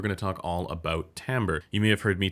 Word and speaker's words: timbre: actually is and yes it's pronounced timbre not timber timber is something like